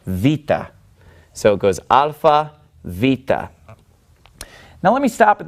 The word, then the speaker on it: Beta: Veta and of course if you're used to the Americanized pronunciation or the reconstructed pronunciation you you would know this as beta but it's actually pronounced vita and it makes a sound like a V and vita is basically